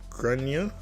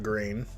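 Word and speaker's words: Gráinne: At this point, alarm bells are ringing in my head because I've realized the kid is called Grain, generally pronounced, Grania, or thereabouts.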